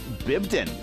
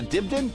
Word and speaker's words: Dibden: Cesford and uh Bibdon. It's a Dibden.